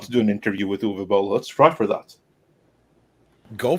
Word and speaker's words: Uwe Boll: We're gonna say his name right though, which is Uwe Boll. But Uwe. yeah. Uwe.